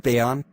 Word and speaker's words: Bayon: The original name for the Bayon is Jayagiri, or Victory Mountain. But new name called Bayon, there was a mispronunciation in Banyan, which was pronounced Bayon.